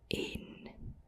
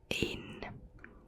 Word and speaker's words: één: In Dutch, 1 is één, één, één. So not too difficult, I think. It's similar as well, only 3 letters, which is same as 1. Één. You can say it after me. Één, nul en één.